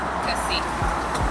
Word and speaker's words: köszi: Or thanks means köszi. Kusi. Yeah. Yeah, that's Kusi. correct. It's like kissing.